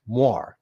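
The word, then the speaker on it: moiré: patterns that's exactly what this looks like a moray pattern I have to pause the video here because I'm not pronouncing that word correctly I've never really said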